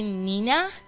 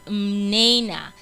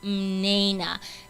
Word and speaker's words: Mnena: think that my name, a lot of people call me Nina or Mina, but it's actually Mnena. That's the correct pronunciation of my name. It's Mnena, and it means gift of God.